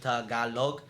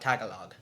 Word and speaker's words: Tagalog: So, and it's not, and for those that are trying to pronounce that, it's Tagalog, not Tagalog.